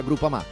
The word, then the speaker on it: Groupama: Ah no, si pronuncia Groupama.